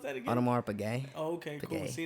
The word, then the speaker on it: Audemars Piguet: Like how do you pronounce that again? Audemars Piguet.